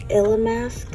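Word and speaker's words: Illamasqua: And then we are gonna go ahead and pull out this Illa Mask, right? That's how it's pronounced.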